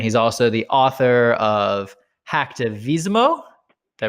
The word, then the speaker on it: Hacktivismo: And he's also the author of Hacktivismo. Did I pronounce that right?